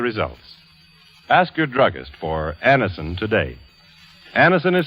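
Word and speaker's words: Anacin: You who have received Anison this way know the effective, incredibly fast relief these tablets bring.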